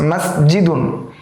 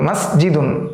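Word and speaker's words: مسجدٌ: শেষে তানবিন দেওয়া আছে মাসজিদুন তানভন দেওয়া রয়েছে এই যে তানবিন দেওয়া রয়েছে এর উচ্চারণটা আমরা স্পষ্টভাবে বলব মাসজিদুন আমরা বলবো না মাসজিদ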